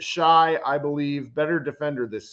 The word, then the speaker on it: Shai: He pronounces it Shy, I believe, better defender this series.